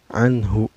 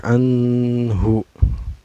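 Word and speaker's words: عنه: Izhar yaitu haknya Hai cara bacanya nun sukun nya dibaca secara jelasnya enggak boleh memantul dan gak boleh dengung Hai harus jelas Anhu enggak boleh angin hub Ya udah boleh ditahan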